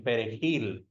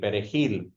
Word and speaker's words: perejil: Spanish very well, then they couldn't pronounce the J in perejil, in the Spanish word for parsley, perejil. And so, yeah, they would assume that those who couldn't pronounce the J in perejil were Haitian.